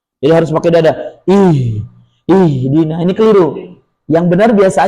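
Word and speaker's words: اهدنا: Jadi kalau kita baca nyambung iyaka na'budu wa iyaka nastain nuhdina nuhdina kan gitu. Enggak dibaca nu ihdina. Makanya disebut hamzah wasal. Hamzah yang dilewati ketika kita membacanya disambung. Tapi karena kita biasa berhenti, nastain berhenti, maka kemudian memulai dari kata baru, maka dikasih harakat kasrah.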